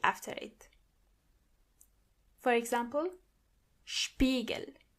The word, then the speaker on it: Spiegel: When you see an S before a P, you have to automatically pronounce the S as sh.